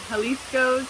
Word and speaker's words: Jalisco's: But the restaurant we went to today, I think you said it's Jalisco's? Yeah, Jalisco's if you pronounce the J like a Y.